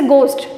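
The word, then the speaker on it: ghost: दिखाई देता है तो एच के साइलेंट होने की कंडीशन क्या होती है जब भी ए किसी वर्ड के ओ के जस्ट आगे आता है जैसे मैं बात करूं ओ किसी जैसे गोस्ट जी एच ओ एस टी गोस्ट ओ के जस्ट आगे एच लिखा हुआ है तो भी एच क्या होता है साइलेंट होता है और अगर h के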